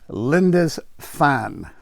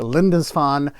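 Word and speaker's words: Lindisfarne: i'm pronouncing it correctly linda's fan i think that's pretty close it's probably not i think the r is silent so it's a linda's fun and so i was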